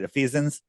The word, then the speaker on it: Ephesians: Ephesians, am I pronouncing that right? Ephesians, close enough.